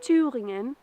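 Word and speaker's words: Thüringen: It is in the city of Jena, in the centre of Germany, in a state called Thuringia, as the locals say, Thuringen.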